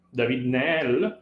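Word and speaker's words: David-Néel: letta di alessandra david o meglio david nell visto che solitamente abusiamo di pronuncia anglofono da una realtà the francofona perché era presentata in belgio david ne sarebbe pronuncia esatta del nome che questa grande ricercatrice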